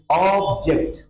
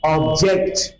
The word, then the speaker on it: object: ऑब्जेक्ट अगर noun होगा तो इसको हम उच्चारण करेंगे ऑब्जेक्ट, ऑब्जेक्ट। और जब ये वर्ब होगा तो इसका उच्चारण होगा ऑब्जेक्ट।